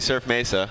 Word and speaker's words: Surf Mesa: well thanks for being here so I am pronouncing it correctly surf Mesa yeah corre no that's right and I I